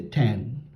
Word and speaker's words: tan: Tangent, you say tan.